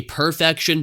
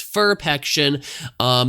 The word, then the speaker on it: Ferpection: is for PEC ssin I know it's kind of a weird you know name to pronounce cuz you want to say perfection but it's ferp action they have a lot